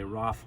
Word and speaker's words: Ralph: looks like a Ralph's we pronounce it Rafe I suppose if you're in North England you might say Roth Vaughan Williams but we'll